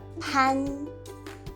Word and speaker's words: 辦: 華語是念不送氣的按辦，客語念送氣的潘。